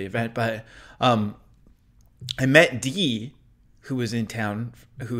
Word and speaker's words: Dee: but um i met dee who was in town who is part of the nation i always mispronounce their contributions as day or yeah eh but in real life it's d i met d